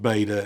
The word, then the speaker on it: beta: And the pronunciation of beta is like our modern B. It's a B, as in boy or bus or bat.